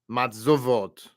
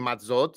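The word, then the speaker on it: מַצּוֹת: And here, why is it matzot and not matzovot, right? It's a good question. We're about to answer it, okay? So we look here, moving on. I just want to point this out, right? You're reading it right. If you're reading matzot, that's correct.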